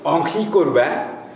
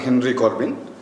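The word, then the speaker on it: Henri Corbin: এইটা লিখেছেন আমরা ফরাসিতে উচ্চারণ করি অঙ্কি করবে, আপনারা পড়তে পারেন হেনরি করবিন।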